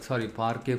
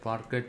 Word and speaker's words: Parquet: Okay, and if you are lucky, the customer is giving you .json file or Parquet file. Parquet is the T is silent here.